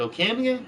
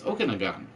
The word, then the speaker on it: Okanagan: Is it Okanagan? No, it's Okanagon.